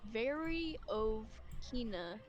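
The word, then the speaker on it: Veryovkina: And there's two ways that they kept pronouncing it. But it's Variovkina.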